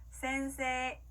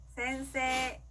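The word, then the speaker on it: 先生: 그러면 센세이가 아니라 센세라고 길게 발음해줘야 되겠죠? 따라해볼게요. 센세, 센세.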